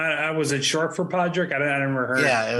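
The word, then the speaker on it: Padraig: got this one because there's a famous golfer named Podrick Harrington so it's Padre all right isn't and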